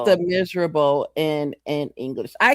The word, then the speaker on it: Les Misérables: Yeah, it's it's Les Misérables in in English.